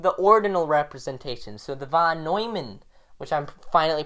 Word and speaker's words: von Neumann: So the von Neumann, which I'm finally pronouncing right, the von Neumann interpretation of the ordinals, which will be in the iCard somewhere.